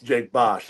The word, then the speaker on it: Jake Bosch: And on top of that, it's two syllables. Jake Bosch.